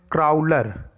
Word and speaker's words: Crowler: और इसका नाम है क्राउलर। क्राउलर, देखो ये क्रॉलर लिखा हुआ है, ऑप्शन सी करेक्ट हो जाएगा इसका, लेकिन आप स्पेलिंग इसकी समझ लो, CROWLER, क्राउलर।